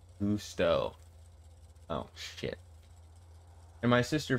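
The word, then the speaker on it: Gusteau: Definitely not spelled right, but it's pronounced Gusto.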